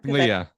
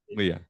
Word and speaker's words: Leah: to do all or Leia I always call her Leia but I don't know if I'm saying it right or not Leah yeah Leah I've heard her say again and again and